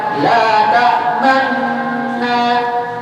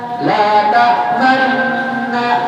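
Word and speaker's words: لا تأمنّا: Cara bacanya kalau di kita la ta'manna, la ta'manna. Salah kalau baca la ta'manna, salah. Harus ada gunung. Kenapa? Karena aslinya dia la ta'manuna. Aslinya la ta'manuna.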